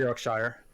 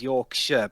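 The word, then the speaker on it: Yorkshire: no no i threw your shire okay is your it's pronounced your shirt by the way yeah yeah i'm not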